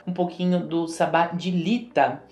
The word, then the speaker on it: Litha: Lita, a gente pronuncia lita mesmo.